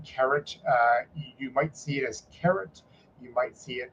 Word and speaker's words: Keret: you would normally pr pronounce the second syllable or the last syllable heavier it's where the emphasis is so you have carrot